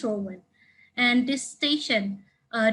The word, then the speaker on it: Rohan: For example, this AFL player, first name Gary, last name, I thought it's pronounced Rohan or Rohan, but apparently it's Rowan.